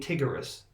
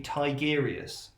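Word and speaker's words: Tigurius: You know, I mean, I got in so much trouble for saying Tigurus. When I didn't even know that I was meant to be Tigerius. Not Tiger, us.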